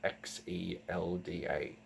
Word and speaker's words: Xelda: and queen, Queen Zelda, but not with a Z, not with a Z like a Legend of Zelda, but with an X. So kind of like Xion in Kingdom Hearts. You spell it with Zelda, Xelda.